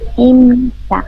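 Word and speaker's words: 입니까: এই বিয়েপুর উচ্চারণ ম হবে। হ্যাঁ, ইমনিকা।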